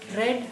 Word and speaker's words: read: the first form okay the other two forms we write it in the same way but we pronounce or we read it like this red red it doesn't means that